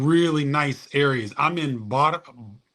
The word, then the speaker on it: Barra: I'm in Barra, I think they pronounce it Baja, but it's Barra.